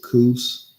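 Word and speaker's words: Kos: It is and I'm going to pronounce it cous. I'm gonna pronounce it. I'm gonna pronounce it Cous the mentor. K O S the mentor.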